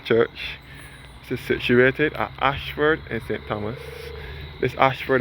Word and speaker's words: Ayshford: This is situated at Ayshford in St. Thomas. This Ayshford is spelled A-Y-S-H-F-O-R-D, which was built in 1838 and dedicated in 1839.